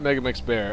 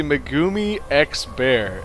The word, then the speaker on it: megumixbear: Oh yeah, first of all, it's not Megaix Bear. I've been saying it wrong this entire time. Somebody posted a comment, I think. Um, it is actually Meumi X bear.